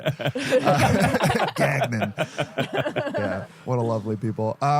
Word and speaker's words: Gagnon: something like A lot of that. people do Gagnon, Yeah. which is, I think that's the French way to pronounce it. That's Gagnon. that sounds like that's New Orleans French, right? Yeah. That's the French Quarter, not Yes.